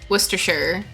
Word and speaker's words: Worcester: in Boston in Massachusetts there's Worcester werer it's cuz I know how to say Worcester I know how to